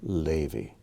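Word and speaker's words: לוי: letter kyle zahav levy another one with the accent on the first syllable levy let's take a look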